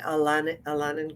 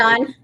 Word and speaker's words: Al-Anon: happened, I went to Alanan group. I can't say it properly because I know you say it differently. Al-Anon. Alanon, Al-Anon.